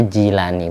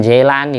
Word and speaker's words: Jilani: Latinnya itu gila Jilan kalau dibaca Jilani bukan Jaelani bukan orang Indonesia yang gak ngerti pasti membacanya Jailani Ana lebih enteng harakat